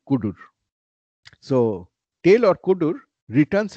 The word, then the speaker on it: cdr: this is typically cdr since you cannot pronunciate it easily you call it kudur so tail or kudur